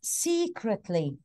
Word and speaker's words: secretly: what she said but it is secretly see it's a little bit long the vowel is long secretly yes secretly this